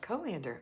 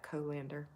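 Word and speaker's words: colander: lisa bethany says wow you actually did pronounce it right co-lander awesome you know we had a neighbor whose last name was verlander so i kind of pronounced it like that co-lander amy sayer is here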